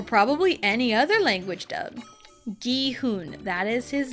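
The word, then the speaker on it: Gi-hun: It's the hard G.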